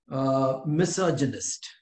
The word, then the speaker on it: misogynist: things are antonyms of veteran okay next is misogynist this one okay note the pronunciation misogynist one who is a hater of